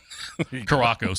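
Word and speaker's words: Curaçao: Let's just see how he can pronounce Curacao. Right. Oh, see yeah. If that one's a tough one. Oh, I still call it Curacao. Caraco sometimes.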